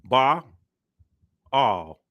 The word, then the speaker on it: Ba'al: we go bull bull B all when you say it together fast it sounds just like bull all right so now